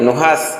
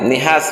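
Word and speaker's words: نحاس: আরাবরা সাধারণত আগুনের ধোয়াকে নুহাস এবং নিহাস বলতো তিনি এও বলেন কোরআনের বিশেষজ্ঞগণ বলেছেন যে এখানে এই আয়াতংশের উচ্চারণ হবে নুহাস মুজাহিদ রহমাতুল্লাহ আলাইহি বলেন যে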